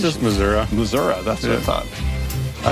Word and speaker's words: Missouri: time for for a spell I'd say in Missouri you say it's it said there for a